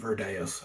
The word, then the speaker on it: Virdeus: Because of its Latin origins, I call him Virdeus.